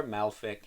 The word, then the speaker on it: Malefik: Now I say Malefic because it's spelled like the first half of Maleficent from, of course, Disney's Sleeping Beauty's name. So I believe it's pronounced Malefic, or Malfic if, you want to say it that way.